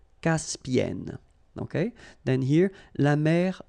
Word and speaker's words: Caspienne: Okay, and then double consonant here, and it's the same, and N, so it does open the sound here. So it's e. Caspienne. Caspienne.